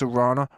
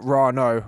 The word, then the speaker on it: Rana: Henny or this Rana, not Rano, Rana, you know what I'm saying?